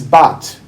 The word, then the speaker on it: Bat Zion: in the actual scroll, it would be Beit Zion, the house of Zion. It is pronounced, it is Bat, meaning daughter of.